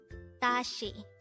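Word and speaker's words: 다시: as a two-syllable word the first syllable is the second syllable is she although this is spelled as s i this is pronounced as she pronounce it with me Dashi the meaning of the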